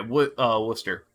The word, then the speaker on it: Worcester: Okay, Worcester. thank you for pronouncing it correctly.